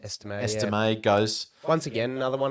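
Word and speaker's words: Estimé: Estime goes.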